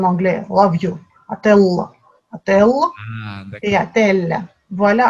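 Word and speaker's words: отель: Et comme je viens de dire, quand le O n'est pas accentué, vous corrigez vous-même, vous prononcez Attel.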